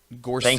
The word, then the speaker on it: Gorsuch: So, Gorsuch. Gorsuch. Thank you. Yeah. Okay, rhymes with itch.